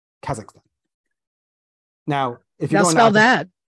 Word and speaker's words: Kazakhstan: Don't say Kazakhstan because that's not how you say it. No. I don't want to be snobby here. I'm really bad at most things, but just say Kazakhstan.